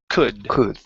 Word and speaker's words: could: Let's go to the word, could instead of could. The L is silent. Could.